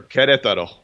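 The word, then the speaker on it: Querétaro: So I'd love to hear why you, and can you pronounce the name of the town again? Sure, Queretaro. Queretaro.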